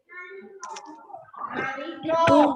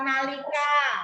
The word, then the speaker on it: nalika: Naliko, bukan nalika.